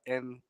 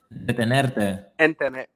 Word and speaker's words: entretenerte: O manejando en el carro, puede escuchar la música para entretenerte. That's how it's pronounced? Detenerte.